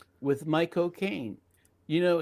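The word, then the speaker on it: McConaughey: Yeah, it was a movie with my cocaine. You know, he said the best way to pronounce his name is to say my cocaine but fast.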